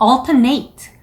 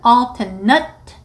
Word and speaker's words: alternate: 많은 분들이 이 alternate 이라는 단어를 동사처럼 alternate 라고 발음하시는 분들이 많거든요. 저 시험 볼 때에도 옆에 있는 분들은 거의 다 alternate 라고 읽으신 것 같아요. 듣고 싶지 않아도 옆 사람들 시험 보는 목소리 다 들립니다. 제가 일부러 들으려고 들은 게 아니고 형용사로 시험에 사용이 주로 되는데 발음은 형용사일 때에는 alternate 이라고 해주시면 돼요.